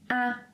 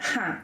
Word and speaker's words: há: First of all, it is ‘há’, with a silent ‘h’. Don’t say ‘Rá’.